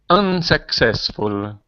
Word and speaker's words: unsuccessful: successful repeat successful unsuccessful unsuccessful very good so the stress the syllabus the stress is on the first syllable in unsuccessful but it's on the second syllable in successful successful that's it very